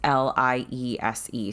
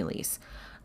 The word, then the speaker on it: Liese: It's Liese. So if it's German, it would be Liese.